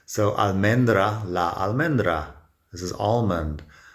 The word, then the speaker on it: almendra: La almendra, men, is the strong syllable, and almohada, it's the A towards the end, that's a strong syllable.